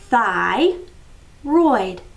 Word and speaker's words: thyroid: This first syllable is thigh. Y at the end of a one syllable is I, thigh. Oid, roid. This word is thyroid, thyroid.